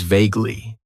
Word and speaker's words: vaguely: And that is vaguely. It has 2 syllables. And the stress is on that first syllable.